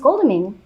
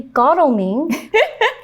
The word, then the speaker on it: Godalming: then it turns out I had always read that name wrong, and it's actually Godalming.